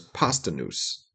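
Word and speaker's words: Posdnuos: La Soul known as Pasta Noose. It's spelled different. It's spelled, let me see. I have the thing open here. Let's see if there's, Postdnuos. Okay. Pasta Noose is how you say it.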